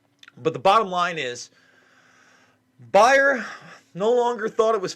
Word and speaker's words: Bayer: 10.9 billion dollars that bear has now or buyer i'm sorry i don't want to mispronounce it buyer has now agreed to